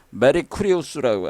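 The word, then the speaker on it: Mercurius: 근데 로마 신으로 보면은 이것은 메리쿠리우스라고 합니다. 메리쿠리우스. 뭐하고 비슷해요? 메리 크리스마스하고 비슷하잖아. 발음이 메리 크리스마스.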